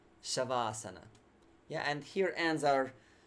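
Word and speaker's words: śavāsana: with the corpse pose shavasana so that's normal show like in shine or shiver shavasana yeah and here ends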